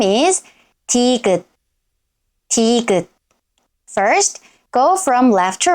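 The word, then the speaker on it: 티읕: At the beginning of a syllable, it sounds somewhere between d and t, but it's more closer to d.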